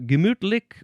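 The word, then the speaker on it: gemütlich: Uh this word is German um from gimmutlick which means pleasant and also from gimmute which means mentality or mind.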